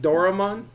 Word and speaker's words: Doraemon: Doraemon.